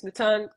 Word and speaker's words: Mouton: m o t n my last name is maton pronounced kind of like salad Crouton so I was born